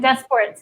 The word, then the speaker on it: DesPortes: And DesPortes is how you say my last name.